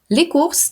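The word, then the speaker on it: les courses: і те ж саме лікурс - це Покупки лікур - це заняття коли ми вимовляємо слово покупки то ми читаємо букву с лікурс як запам'ятати а раз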